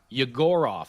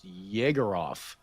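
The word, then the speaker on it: Yegorov: Yagorov. I've been saying his name wrong all the time. I thought it was Jagger. It's Yagorov. You got the Gore.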